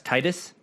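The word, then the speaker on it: Tidus: from final fantasy 10 the main character his name is spelled t-i-d-u-s how do you pronounce that g-i-d-u-s titus yes his name is titus titus okay i mean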